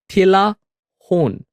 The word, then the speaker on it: Talahun: But you can pronounce it with a T. Talahun, right?